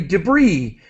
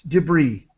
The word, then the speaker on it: debris: and then, sorry, debris. We do not pronounce the S. This is originally a French word. We don't pronounce the S. Debris.